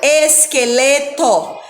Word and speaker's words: esqueleto: Nós não falamos a vogal U, esqueleto, nós só pronunciamos o que e o E na palavra iraquiano, a mesma coisa, só pronunciamos que e o I, certo?